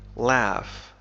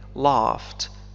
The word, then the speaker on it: laugh: المضارع هي laugh يضحك laugh تنطق بطريقتين مختلفتين فالإنجليزية الأمريكية تنطق ب laugh مثل cat laugh cat لكن في الإنجليزية البريطانية تنطق ب laughed مثل father I laughed فهذين الحرفين ينطقان كما ننطق في father The other pirates laughed.